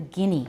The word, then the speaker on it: Guinea: that's mainly how it goes and Papua New Guinea we need to know how to say the